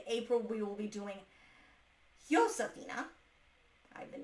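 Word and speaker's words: Josefina: In April, we will be doing Yosphina. I've been mispronouncing this because again, you think I should know better, but J's are pronounced with an H in Spanish. So rather than Josephina, it's Josephina, I think.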